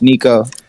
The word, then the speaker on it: Nixo: should have told you this earlier but it's pronounced Nico Nico okay okay yeah I like the though